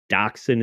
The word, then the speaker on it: dachshund: Really, on the page, I will concede that it doesn't look like it's pronounced with the K sound. Right? If you're reading the way that dachshund is spelled, it doesn't jump off the page with that pronunciation. I've heard German people pronounce it, and that is the pronunciation.